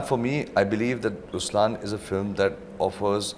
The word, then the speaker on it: Ruslaan: okay so even in raslan when you say raslan also means the lion it's the attitude of am but the right pronunciation is rlan okay there is so much into it even